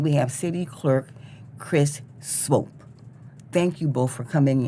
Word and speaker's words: Swope: city clerk Chris Swope Swope s-w-o-p-e it rhymes with hope and it's hope long always silent E for the audience who